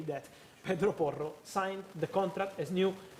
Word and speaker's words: Porro: By the way, the pronunciation is Pedro Porro, I think they say in Portugal. Because with the R, Portuguese. with the R, Portuguese. Yes. Pedro Porro.